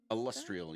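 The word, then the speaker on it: Alustriel: And how do you pronounce this lady's name? Illustrial? Illustrial, yes.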